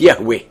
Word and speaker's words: Yahweh: referring to himself as I am which in Hebrew is pronounced Yahweh and the almighty continues